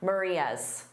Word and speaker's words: Maria's: But just notice, they would absolutely include that S in pronunciation, Maria's.